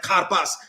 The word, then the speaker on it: karpas: someone said you know it's it's like car and pass it's like karpas he's trying to help us